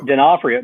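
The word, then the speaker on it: D'Onofrio: Denafhrio.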